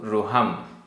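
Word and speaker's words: रुहं: गाथा क्रमांक 151 उच्चारण जिणवर जिणवर चरणम रूहम चरण रूहम र में छोटी उ की मात्रा है रूहम जिणवर चरणम रूहम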